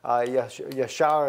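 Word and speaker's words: ישר: are written in the book of Jasher, I think is the way that you would pronounce it in the English language. Yashar is how we say it in Hebrew.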